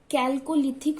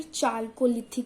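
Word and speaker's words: Chalcolithic: इसीलिए इस पीरियड को हम कैल्कोलिथिक फेस या फिर चाल्कोलिथिक फेस, कैसे भी प्रोनाउंस कर सकते हो आप, इसे ये भी कहते हैं।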